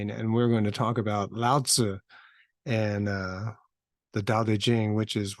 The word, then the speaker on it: Lao Tzu: But anyway, so Lao Tzu, and you pronounce it Lao Tzu. That's the way best my approximation of it.